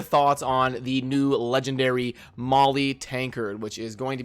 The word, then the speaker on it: Maulie: I love the name Molly is kind of like a play on the common female named Molly like mo LLY but it's it's spelled like a maul that you would hit somebody with so I'd love to